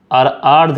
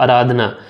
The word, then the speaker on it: आराधना: हैं भाई आराधना मेरा नाम है आर्द नहीं तो आराधना तो आपकी जो आईडी